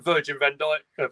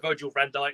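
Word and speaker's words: Virgil van Dijk: got even more for us to win than virgin Van Dyke Virgil Van Dyke I know I'd say it wrong so got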